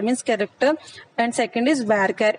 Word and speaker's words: varchar: One is char, char means character, and second is varchar. It is pronounced as varchar, not varchar.